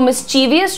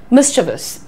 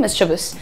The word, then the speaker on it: mischievous: तो mischievous छोड़िए, mischievous. Oh, he's pretty mischievous, yeah. Oh, your young boy is pretty mischievous. काफी शरारती बच्चा है। So mischievous ऐसे, mischievous. अब आज से mischievous नहीं बोलना, he's very mischievous.